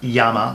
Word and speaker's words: Llama: I had, my first 1911 was a Llama, Spanish-made, Spanish production, 1911 clone. For those who don't know, everyone knows them as Llama. It's actually pronounced Llama, which in Spanish means flame.